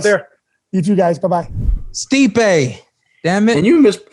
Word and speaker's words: Stipe: Stipe. Damn it. And you mispronounced his last name. Miocic. Oh, No. Stipe? Miocic. I called him Steve every time.